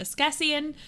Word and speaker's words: askesienne: This is pronounced Ascasian.